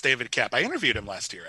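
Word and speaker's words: David Koepp: I believe it's pronounced David Kep. David Kep, correct. It is indeed pronounced David Kep.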